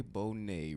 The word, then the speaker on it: Bonet: Bonet.